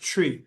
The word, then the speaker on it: Twi: It's spelled TWI, but it's pronounced tree.